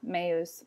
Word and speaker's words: meus: Each of these vowels should be pronounced individually. Mea, meus, meum.